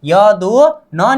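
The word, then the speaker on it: 여든: बस मतलब य दो न नीचे आ जाने पर उच्चारण क्या होगा? न होगा।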